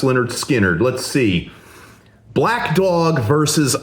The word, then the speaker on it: Lynyrd Skynyrd: In the case of Led Zeppelin 4 versus Leonard Skinnard, pronounced Leonard Skinnard.